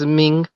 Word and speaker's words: Minh: Ming. Yeah, that's actually Min, MINH.